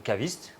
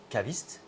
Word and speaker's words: caviste: So I am a caviste. We say wine merchant, but in French it's caviste.